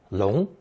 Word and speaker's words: 龙: Now we come to the main phonetic character in today's lesson, the character for the dragon, pronounced second tone, 龙.